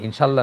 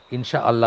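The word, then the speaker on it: إن شاء الله: সেটাই ঠিক, ইনশা আল্লাহ, মানে ইনশাল্লাহ না, ঠিক ইনশা আল্লাহ বলবো আমরা। একটা হামজা আসবে, তারপরে আমরা বলবো আর কি, মানে ইনশাল্লাহটা আবার একটা ভুল কথা, ইনশা আল্লাহ বলবো আমরা, আল্লাহটা আলাদা করে উচ্চারণ করব।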